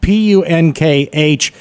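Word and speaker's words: Punkh: P-U-N-K-H. Give me the pronunciation. It's punk.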